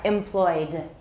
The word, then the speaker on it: employed: How many syllables? 2. Correct answer is 2, not 3. All right, employed.